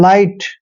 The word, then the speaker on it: light: जैसे एल को ले पढ़ते हैं और IGHT को आइट पढ़ना है, मतलब लाइट।